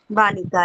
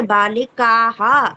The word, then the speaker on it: बालिका: बालिका बालिका बालिका उसमें विसर्ग मत लगाया करो। उच्चारण में हा मत लाया करो। ठीक है। बालिका हा ऐसा मत बोलो।